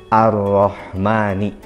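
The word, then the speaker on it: الرحمن: al-fatihah yang pertama adalah pada kalimat Ar Rahmani ingat tasydid yaitu menekan makaronya tekan begitupun pada kalimat Ar Rohimi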